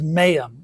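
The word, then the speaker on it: mayim: So the Hebrew word here for waters is mayam. It's m a yim.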